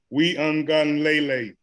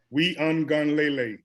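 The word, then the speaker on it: Uiagalelei: so is Enlightenment yes so it's we ungun Lele we ungun Lele that's his name we on Galilei yes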